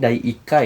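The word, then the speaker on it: 第1課: Di sini saya sudah tuliskan ada, kalau ini Dai Ikka ya teman-teman dibacanya, yaitu bab ke-1.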